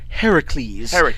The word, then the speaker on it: Heracles: Heracles. If you're going Greek, if you're going Greek, it's Heracles. If you're going Roman, it's Hercules.